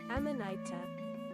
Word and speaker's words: Amanita: Pronunciation. There we go. Amanita.